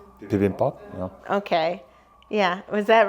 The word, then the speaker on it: bibimbap: Get ready to butcher the the Korean language. Let's see. We had the atak bimbap. Bibimbap?